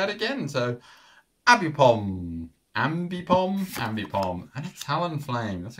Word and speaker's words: Ambipom: And we kick things off with a Fletchlinder, Flappy, Abby Bomb.